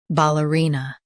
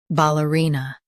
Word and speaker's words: ballerina: ballerina Now, read the syllables shown on the screen naturally. ball uh ree nuh ballerina Emphasize ree and keep ball soft.